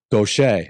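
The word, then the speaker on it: Gautier: We lived in a small town named Gutier, pronounced gocha.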